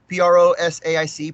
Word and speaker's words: prosaic: he's fine we are not talking about prose pronounced right Mosaic p-r-o-s-a-i-c prosaic origins or identities Grouch said